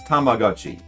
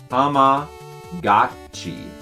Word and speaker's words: Tamagotchi: I just changed my pronunciation. It is gochi. Goat cheese. Yeah, that would make sense because that's how they pronounce G-O. It's go. It would never be ga.